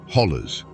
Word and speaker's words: hollers: Or as the locals say, hollers.